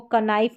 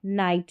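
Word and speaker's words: knight: Knife इसको कनाइफ नहीं पढ़ेंगे। नी हो गया। कनी नहीं नॉलेज और यह है नाइट ना कि कनाइ।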